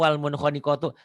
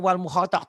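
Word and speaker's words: والمنخنقة: Nggak mungkin ini bacanya wal mukhotok tok tok tok susah gitu nggak mungkin. Wal ini mim. Walaupun tulisannya salah ini ya. Harusnya kan mim itu ada Iya. buletannya itu. Wal munkhaniqatu. Oke.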